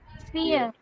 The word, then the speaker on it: Vier: இது எப்படி சொல்வீங்கன்னா fear, fear, Vier. fear. Vier. v வந்து f ப்ரொனவுன்ஸ் பண்ணோம் இல்லீங்களா?